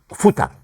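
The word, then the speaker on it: Futter: Em eh para la alimentación animal se usa la palabra futer. Futa, ¿no? Futa en alemán. Se escribe f u t t e r.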